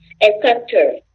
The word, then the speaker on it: helicopter: Esse H a gente fala ele mais. No inglês a gente fala ele mais. No português a gente só. Às vezes a gente, o som é mudo, né? No inglês a gente fala helicopter.